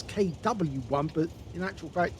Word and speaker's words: KW I: Well, in fact, actually, it says KW1, but in actual fact, in German, the W means a V, or is pronounced as a V.